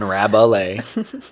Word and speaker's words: Rabalais: at rabbley but spelled phonetically because my last name is hard to spell sometimes so it's a r-a-b-u-h-l-a-y rabbalay uh that's yeah Instagram